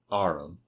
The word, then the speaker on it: arm: He pronounced it arum.